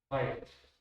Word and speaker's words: Weierstrass: Una vez tuve una alumna alemana que me dijo que se pronunciaba Weierstrass. ¿Quieren que la así? Lo que quieras. Yo prefiero decirlo bien que decirlo mal. Es Weierstrass.